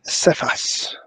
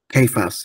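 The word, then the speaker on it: Cephas: first met Peter in Jerusalem he calls Peter Seas I think that's pronounced properly he sorry kayas in Arab in aramic say it again saas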